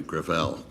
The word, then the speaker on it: Gravel: let me correct uh i pronounce it within my family griffell it's a french name thank you uh i